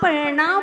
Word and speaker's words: णा: हैं, तालु कहते हैं, जब आप णा बोलते हैं, जरा उच्चारण करके देखिएगा, आप लोग प्रैक्टिकल करिए। णा, आपकी जुबान कहाँ लग रही है? मूर्धा पर। ये मूर्धा क्या है?